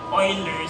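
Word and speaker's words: Euler: mathematical constant so ang tawag natin dito ay oiler constant So yung oilers constant ang spelling ay e l s apostrophe s constant or number Bakit siya oiler kasi german yyan german na word kaya oiler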